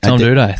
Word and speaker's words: Doedee: Tom Doedee.